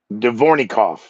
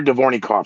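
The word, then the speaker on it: Dvornikov: his name and i wrote it phonetically uh alexander devornik devornikov alexander divornicoff he's 64 years young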